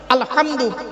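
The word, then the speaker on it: الحمد لله: আলহামদু। এ গলার ভর থেকে হেটা উচ্চারণ করবেন।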